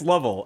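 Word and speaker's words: Lovell: no it was well it's spelled it's spelled to make people think it could be lavelle because it's l-o-v-e-l-l yeah that's what he said it's l-o-v-e-l-l yeah which doesn't help oh he is pronunciation yeah that's what i'm saying it's not very he's like it's level and i'm like well yeah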